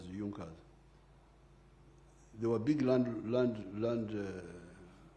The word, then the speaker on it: Junkers: It is written junkas but they pronounce it as Junas.